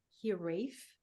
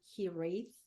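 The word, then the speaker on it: hiraeth: I think but it's it's pronounced I think here Rafe or he wraiths and it it's it's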